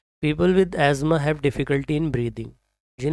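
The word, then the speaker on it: asthma: इसको हम प्रोनाउंस करते हैं अक्सर अस्थमा, बट इसकी जो राइट प्रोनाउंसिएशन है वो है एज़मा। जिसे मतलब सांस लेने में जिन्हें प्रॉब्लम होती है उन लोग, उस बीमारी को कहा जाता है एज़मा। अस्थमा नहीं है, इसको कहते हैं एज़मा।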